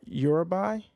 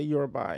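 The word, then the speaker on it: Urubai: So, with my American English, as best as I know how to pronounce words is uh eurabi. Um, that's the best way I'm I'm gonna say it. So, I'mma say you're buy.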